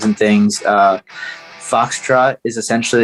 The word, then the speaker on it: Fauxtrot: yeah so uh we're on instagram it's a foxtrot it's spelled this way so f a u x